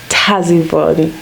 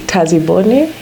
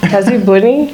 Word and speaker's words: Tazibone: styling with the illustrious Tazon Solomon I understand your name is actually pronounced differently tazi Bon Taz Bon ah Taz Bon yes I got it right